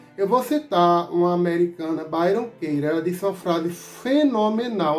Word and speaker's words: Byron Katie: Se você quiser pesquisar, você bota Byron com Y, Katie com K. Aí se pronuncia Byron Katie, né?